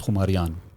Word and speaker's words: Khumariyaan: And then अब वो Khumariyaan है या Khumariyaan है, every province has its own pronunciation, but the correct way to say it is Khumariyaan. Okay, Khumariyaan, noon instead of noon gunna.